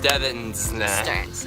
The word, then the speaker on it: Stevns: You don't say the V. I'm gonna put the spelling right here. It's this is how you spell it. But yes, Stevns. It was really great.